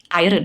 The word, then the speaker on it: iron: Iron, huh? No, iron, no R. Iron, R is silent.